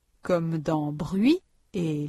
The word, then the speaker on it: bruit: 495 activation orale prononciation la semi-voyelle u révision pour prononcer le son u comme dans bruit et lui.